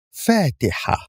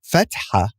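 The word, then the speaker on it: فاتحة: The second example is Fatiha. Here we have alif with nothing above it, and the letter before it, which is fa, has a fatha above it. So also we do not pronounce the alif, but the letter before it, fa, with extending the fatha. It's not fatha, it's fatiha.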